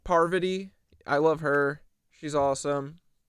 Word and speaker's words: Parvati: Parvati.